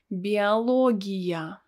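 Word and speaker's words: биология: it's bialog oh it's pronounced as a because it's not stressed bialogia can you guess what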